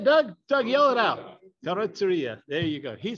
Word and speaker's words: Carrozzeria: Carrozzeria.